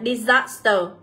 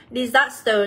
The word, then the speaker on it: disaster: Thế còn đáp án D thì chúng ta sẽ được đọc là Disaster. Disaster, đây là âm số 2, từ này là thảm họa.